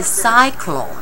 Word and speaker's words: cyclone: one pronounced is s it's a soft C and this is a hard C so we call it